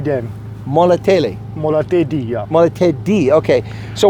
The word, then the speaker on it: Molatedi: Hey folks, this is Chris at the, gosh, I have a hard time pronouncing this name. What's the name of this dam? Molatedi Dam. Molatedi.